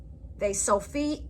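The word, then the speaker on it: ף: Fe-so-feet is a final pronounced like a F at the end of a word.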